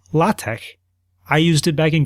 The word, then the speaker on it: LaTeX: He he said even though it looks like sort of like the word latex, it's pronounced lat.